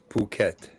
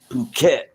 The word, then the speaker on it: Phuket: pronounced it all right it's pronounced puket okay okay that's what happens to cruel cat when he goes to the bathroom. Phuket.